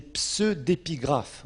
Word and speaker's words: pseudépigraphe: Alors maintenant, il y a un autre terme que vous trouverez aussi en théologie, c'est les pseudépigraphes. Oh là là, pseudépigraphes, comme pseudo, quand on parle d'un pseudonyme, PSEU, pseudépigraphe.